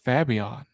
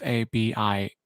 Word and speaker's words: Fabian: anymore uh so yeah let's talk fabion or fabian i really want to pronounce it i pronounce it fabion even though it's f f-a-b-i-a-n fabian but i still pronounce it fabion because i'm fancy like that um i have to